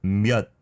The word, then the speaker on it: 몇: So 몇 is how you should say it.